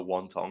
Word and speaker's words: Wang: I made the mistake of betting Wang Kong by finish like in a Rogan is legit calling her Wong. Yeah, that's apparently how you're supposed to say her name.